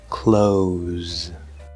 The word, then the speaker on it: clothes: Either way is fine as long as you don't have an extra sound between the k and the l. We don't want like kohl or something. clothes clothes And that was 19 words, but don't leave yet.